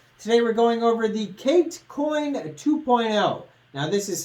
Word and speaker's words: CATE: with another video today we're going over the Kate coin 2.0 now this is spelled cat with an e at the end